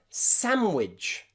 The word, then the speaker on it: sandwich: Also in the word sandwich, sandwich. Most people don't say sandwich, they just say sandwich because the D in the middle is silent.